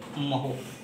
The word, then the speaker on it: mho: ओम spelling होती है OHM, और इसका उल्टा होता है, इसलिए इसका मात्रक बना दिया गया MHO, महो। बात समझ में आ रही है।